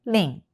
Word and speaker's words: Rin: And her first name, Rin. 1 2. This is ri Okay, I wrote it down Roman letter, but we pronounce more r not l sound.